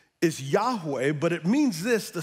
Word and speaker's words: Yahweh: And the name Yahweh, and we're going to find out its origin, is really impronounceable in the Hebrew. It's four vowels, and the closest we can get is Yahweh, but it means this: the self-existent, eternal, covenant-keeping God.